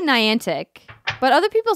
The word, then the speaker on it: Niantic: what other people say nyan tick swing it Niantic how do you say it Alexa ray Niantic so I'm saying it correctly yes perfect people say maybe I learn English pronunciation words you've wrapped up their special Pokemon